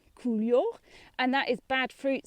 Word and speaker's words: coulure: The easy way to pronounce it, cool and yaw, coulure, and that is bad fruit set.